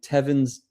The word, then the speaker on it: Tavrn: So I've just finished playing Tavrn's Takedown. So Tavrn, as in the place where you drink, but it's spelled Tavrn.